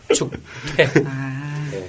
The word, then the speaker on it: 축퇴: 축태가요? 네. 나와요. 안 나와요, 구글에? 뭐야, 이거? 한의원. 축태입니다. 퇴. 네, 축태가 아니고 축태. 퇴. 발음이. 발음이 경동 한의원 문축태 원장님이라고 하시더라고요. 그 이름도 참. 아이고. 퇴가 아니고 축퇴.